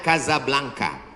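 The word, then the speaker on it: Casablanca: mesjid asam2 di Kota Kasablanka Hai ibukota Maroko tempat saya kuliah nama negaranya Maroko ibukotanya tulisannya casablangca cara bacanya Kadzab langka Kaza artinya rumah Blanca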